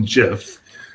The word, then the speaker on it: GIF: But the creator of the graphic interchange format said it's pronounced like the peanut butter.